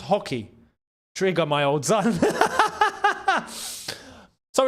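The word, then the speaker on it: Roque: Even the commentators just said it's pronounced hockey.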